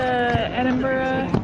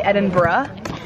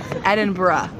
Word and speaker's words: Edinburgh: is crazy it is crazy we're at the Edinburgh Castle right now we it's actually Edinburgh Edinburgh is how it's pronounced just so you know edur sorry I